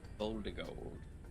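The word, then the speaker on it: Voldigoad: Voldigold, like Voldemort.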